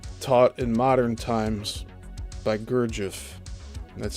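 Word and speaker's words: Gurdjieff: and the system taught in modern times by Gurgif. That's spelled Gu U R D J I E FF.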